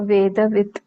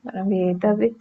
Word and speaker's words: वेदवित्: जब त हलंत वाला लास्ट में आता है तब हम लोग उसको फुल प्रोनाउंस करते हैं, तो वेदवित् एक्चुअली है वो वर्ड, वेदवित् ऐसे बोलेंगे।